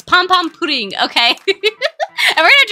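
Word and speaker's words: Pompompurin: me because I say pom pom pudding but if you know the Japanese pronunciation I'm not wrong okay that's how they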